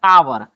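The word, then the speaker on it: hour: एन आवर आवर में भी हमारा एच साइलेंट है।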